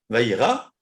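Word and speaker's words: וירא: Et si vous dites par exemple vayira, vav, yud, Resh, Aleph, il a vu, Vaïra. Là, vous prononcez vraiment le Yud.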